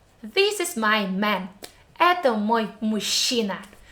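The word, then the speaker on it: машина: teeth chassis next word mushina this is my man ato mushina do you hear the syllable in the middle she sound again so combination of letters and we come up with again mushina repeat with me then you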